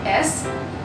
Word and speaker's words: es: Now the spelling is E and S, but we pronounce it as the normal S, like S alphabet. So it's wie geht es dir?